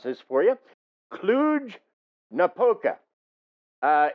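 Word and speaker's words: Cluj-Napoca: located near a city and I'm going to pronounce this for you clug napoca uh it's bounded on one side by the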